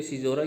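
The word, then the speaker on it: caesura: Spelling में तो CA है, लेकिन बोलते सिजोरा ही है इसको।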